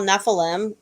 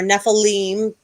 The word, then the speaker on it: Nephilim: had sex had offspring called what we call nephilim or nephilim there's different pronunciations and um then god